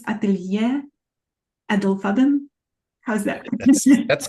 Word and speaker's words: Atelier Edelfaden: So we were practicing, I think it's Atelier Edelfaden. How's that? That's correct. That's correct. That's pronounced very well.